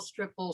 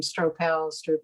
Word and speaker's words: Stroppel: you uh you know a stropal stripple strapple whatever you know and when i went to um sandy camp is the name of the um the retreat out in in california and i was rooming with misha and we were checking in and of course everybody had this big discussion about how do i pronounce my name stropals yeah and it is stropal and when we were